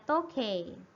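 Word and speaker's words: 時計: itu digabung ya Hai ini special ya bacanya tokai Hai jam ya Nah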